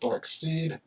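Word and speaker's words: Darkseid: i have my own son so forth it's pronounced dark seed if you like her or not all right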